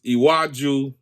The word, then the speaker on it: Iwaju: Did I pronounce it? Yes, Iwaju.